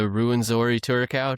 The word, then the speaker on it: Rwenzori Turacos: Well, anything else on the Rwenzori Turacos?